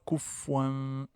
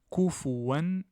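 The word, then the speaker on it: كُفُوًا: Donc, on ne dit pas kufwan, mais on dit, donc il n'y a pas de runna, il n'y a pas de dissimulation, il y a une prononciation claire. Kufuwan ahad.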